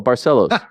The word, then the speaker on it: Barcelos: Brazilian names right now Carlos broches no no barcelos oh hon barcelos hyoni hyoni there was once